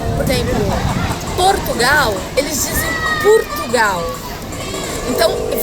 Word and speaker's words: Portugal: Por exemplo, Portugal, eles dizem Portugal. Então, se escreve com O, mas se pronuncia com U.